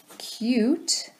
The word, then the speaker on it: cute: now look here at cute this has a law you sound the e makes the you say its name so here we have cut cute but the e is silent let us aim yet